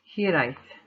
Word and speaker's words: Hiraeth: to pronounce the line, and it's pronounced Hiraeth.